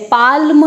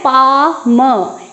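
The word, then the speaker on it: palm: पाल्म नहीं करना है, क्या बोलना है? पाम। एल बिल्कुल साइलेंट रहेगा।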